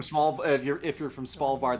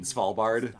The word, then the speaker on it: Svalbard: The S and V in Svalbard.